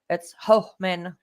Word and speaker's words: Hohmann: It's Hohmann, Yes. spelled but pronounced Hohmann.